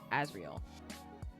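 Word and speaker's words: Azrael: Azreal. Okay, thank you. Thank you. I was like, I know it's more than two syllables. Azreal.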